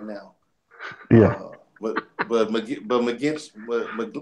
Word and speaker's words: McGlinchey: But McGinch, how you say his name? McGlinchey.